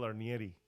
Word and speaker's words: Arnieri: us of course Phil arnieri did I pronounce that right absolutely nailed the Italian pronunciation beautiful yeah awesome so